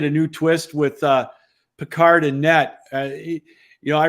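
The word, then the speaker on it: Pickard: to say his name I thought it was picker now it's peard whatever going into game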